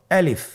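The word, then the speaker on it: ألف: বলতে হবে বলুন আলিফ আলিফে কিন্তু কোন টান নেই আপনারা বুঝতে পারতেছেন আমি যখন আলিফ বলছি এর মধ্যে কোন টান হবে না। আলিফ আবার বলুন আলিফ।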